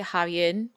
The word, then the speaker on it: Javier: Because in Spanish, J is pronounced July. That's so true. So, Javier. So we say Javier.